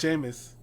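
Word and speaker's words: Jameis: It's Jameus.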